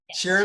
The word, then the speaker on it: Cheramy: Cheramy, Cheramy.